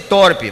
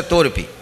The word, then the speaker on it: torpe: torpe ganância mas moderado muita gente para não ser thorpe mas bem correto aqui deve ter gente boa de português e sabe que a pronúncia torpe mas moderado e não